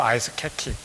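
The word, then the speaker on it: 아이스케키: 옛날 말로 아이스 케키. 정확한 발음은 아이스 케이크겠지만 아이스 케키를 주는데, 그게 얼마나, 60여 년 전에 아이스 케키?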